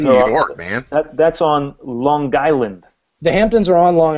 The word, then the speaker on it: Long Island: Try it again. Long Island. Long Island, yeah, that's it. Is that the connect? Connect four. Is that the connect pronunciation? Yeah, that's it. That's the way. Long Island. So I've been putting the emphasis on the wrong syllables. Well, you're using too perfect English.